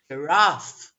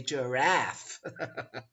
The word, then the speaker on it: giraffe: And yes, you would be right if you said da, giraffe, giraffe. Or if you're American, you might say giraffe.